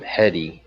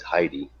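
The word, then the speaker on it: Hedy: let's do open link so originally I was pronouncing her name heady is a chi dy by my wife correcting me and saying that was Heidi oh okay yeah so Heidi Lamar um so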